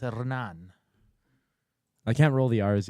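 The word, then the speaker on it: Hernán: or Hernan hernand hernand if you go to South America the H is silent so it's Anan I can't roll the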